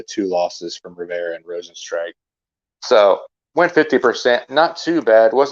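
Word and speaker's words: Rozenstruik: rosenstrike that was how i i pronounced his name wrong by the way so it's rosenstrike that's how you pronounce his name and he lost so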